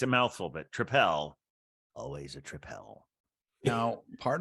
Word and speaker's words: tripel: spoke to him and he then said tripel maybe he was correcting my pronunciation and not saying which beer he liked but I should go back to calling it a tripel again maybe maybe absolutely